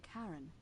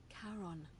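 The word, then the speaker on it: Charon: a coin oh you described it only your pronunciation is a little off the name you heard wasn't Karen it was c h a r o n as in Caron the ferryman of the Dead karon who in exchange for the right coin helps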